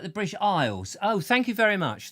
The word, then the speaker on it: Isles: But Isles, Christopher Isles, like in the British Isles, but without the S.